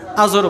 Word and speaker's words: আজর: আজহার উচ্চারণটা কি? আজহার, আজর বলি আমরা।